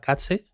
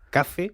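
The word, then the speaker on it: 風: aprendí en japonés era katse, o katse, joder, la Z japonesa la pronuncia fatal, kaze, para que nos entendamos, Sí.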